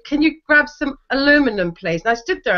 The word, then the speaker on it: aluminum: that's the other one aluminum aluminum aluminum aluminum orinal not you guys aluminium yeah you guys say aluminium that is not correct it's aluminum aluminum was the original aluminum was the original pronunciation aluminium anal say say